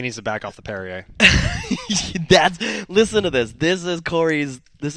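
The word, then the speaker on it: Perrier: can't figure it out how do you get perryer at a p r r i e r there's an extra r at the end that nobody's pronouncing I don't get it how can an R just disappear well it's like Mark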